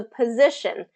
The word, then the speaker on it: position: This is the position. So what happens is this is second syllable stress. So z kind of gets that stress, which reduces the vowel in the first syllable, pa, instead of po.